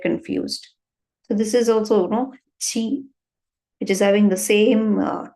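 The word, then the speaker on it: ち: Why is it chi and not t? We don't have a ti pronunciation in Japanese. Only chi pronunciation is there. In the vocabularies, we don't use ti. Only chi sound is there.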